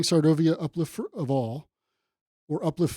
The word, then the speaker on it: Sarvodaya: MK Gandhi Center yes colon inner peace and svod yes and I pronounced that correct right correct you did great so just for everybody and you kept saying sovia uplift of all or uplift for all uplift